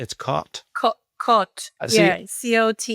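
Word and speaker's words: Côte: C O T E is Cot.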